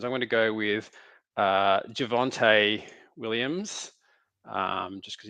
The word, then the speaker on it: Javonte: I'm going to go with Javonte Williams, just because his name rhymes with Devontae.